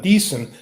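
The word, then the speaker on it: Diesen: with Glenn Dyson yes I apparently pronounce it Glenn decent uh this is an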